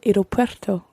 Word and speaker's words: aeropuerto: Voy al aeropuerto. Yeah, almost right. That aeropuerto, you pronounce the A and the E.